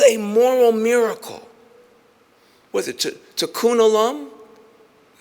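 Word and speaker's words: tikkun olam: Was it to to kunalum? I say it right. Tunalum repair the world.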